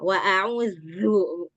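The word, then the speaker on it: وَأَعُوذُ: Nah, jadi bacanya jangan wa'a'udzu. Itu jadinya zu. Kembalikan dulu dia ke makhrajnya. Wa'a'udzu. Zu. Zu. Nah, kalau kita nggak kembalikan ke makhrajnya, zalnya jadi tebal. Jadi huruf za.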